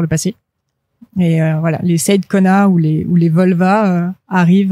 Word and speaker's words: Seidkona: Donc ça se dit Saïd Kona Press. Parce que moi je dis Saïd, du coup on sait jamais.